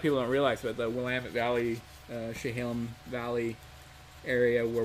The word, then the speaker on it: Willamette: People not from Oregon will always pronounce it Willamette because it looks like that's how it's spelled, but I'll give you guys the inside scoop. It's Willamette. Willamette.